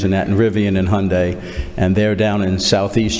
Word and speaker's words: Hyundai: how your day and did I pronounce it right Hearn today Hyundai Hyundai okay well that's okay I